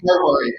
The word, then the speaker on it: Hari: Um, and then is it pronounced Hari? Did I say that right? Hari.